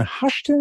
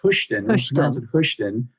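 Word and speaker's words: Hoschton: where is this located is the town hushton am i saying that well i i think it's pronounced houston uh we're located uh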